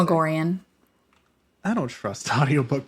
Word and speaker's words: Magorian: Magorian. I don't trust audiobook pronunciations really. No, for sure, but Magorian sounds good. Majorian sounds too much like margarine.